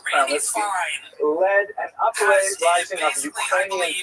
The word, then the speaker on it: Khmelnytsky: this man, Bogdan Khmelnytsky, sometimes horribly mispronounced Chmielnicki because that's the Polish spelling with an American pronunciation, but the actual pronunciation is Chmielnicki, led an uprising of Ukrainian peasants against their Polish overlords.